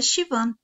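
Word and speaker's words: Siobhan: Nota, o nome se pronuncia Shivan, mais ou menos.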